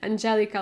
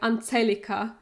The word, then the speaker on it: Angelika: doctor or whatever and they always pronounce my name in Germany like anel because there is no